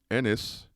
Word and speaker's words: Ennis: toenail clippings oh all right now then garth enos god damn it knife got me doing it garth ennis born january 16 in 1970 in northern ireland